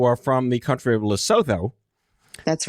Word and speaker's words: Lesotho: Is that the correct pronunciation, Lesotho?